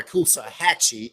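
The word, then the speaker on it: Coosawhatchie: So when you come to um to Kusahachi um or Kusahachi as it's referred to um here locally or to Pokey or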